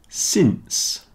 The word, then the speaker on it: since: minute minute in it since rhymes with Prince so since is not